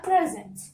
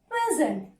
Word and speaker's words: present: So I told you, for the noun, you have to stress on syllable number 1. Syllable number 1. How should you pronounce this? As present.